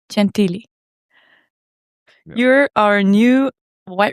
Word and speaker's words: Gentili: I tried to pronounce it the Italian way, but you are from the States, so they call you Gentili. But it's Gentili.